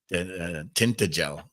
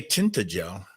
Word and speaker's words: Tintagel: Tintagel, Tintayel, because G in the old way is pronounced as an H or a Y.